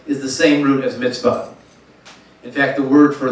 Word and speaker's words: mitzvah: So, in the Hebrew, the original term is mitzvah, emphasis on the last syllable.